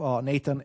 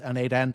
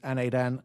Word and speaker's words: n8n: the ID and sorry the proper pronunciation of Nathan is Naden. So do not copy the Nathan this is Naden Nathan does not exist.